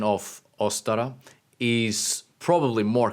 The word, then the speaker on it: Ostara: and the pronunciation of ostara is probably more correct with an emphasis on the first vowel closer to the modern German atin uh for the